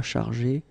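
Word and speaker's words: chargée: You don't pronounce it because phonetically it doesn't exist, but you need to write it. Okay, il, elle sera chargé de faire.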